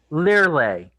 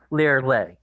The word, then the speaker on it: Lirley: Lirley. Like to leer at someone, to lay down. Lirley.